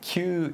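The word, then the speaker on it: 級: And it's like Q is like, because the kanji is pronounced Q, but it's like the class, like first class, premium class at Q.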